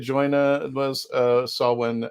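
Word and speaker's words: Samhain: uh it was uh saw when it's oh he's pronouncing that the m is a w in celtic so sawheim saw him i think that i think he's right out there i think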